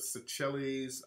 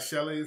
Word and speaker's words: Seychelles: Have you heard of Seychelles Island? I never heard of that one. Never heard of that one. Oh, yes, pronouncing wrong.